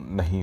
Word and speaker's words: know: ठीक है, तो जिस तरह से अंग्रेजी में हम एक शब्द का उच्चारण करते हैं नो, KNOW, नो नो बोलते हैं सीधा सीधा, लेकिन क यहाँ साइलेंट हो जाता है।